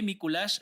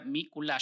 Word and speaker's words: Miculax: aparece todo ok ok míkulas se escribe m y c l x para los que no sepan s me kulaks digamos y se pronuncia míkulas si no estoy mal y así es nicolás